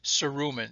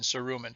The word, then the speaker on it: cerumen: Or the name for earwax, the medical name is cerumen, C-E-R-U-M-I-N, cerumen. So, or C-E-R-U-M-E-N, you can see it's spelled both ways, but that's cerumen, okay, and that's the